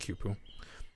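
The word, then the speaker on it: Quipu: I think it's pronounced Kuipu. Q-U-I-P-U.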